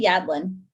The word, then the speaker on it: Yadlin: last name again so i make sure i pronounce it correctly yeah yadlin okay so is here with just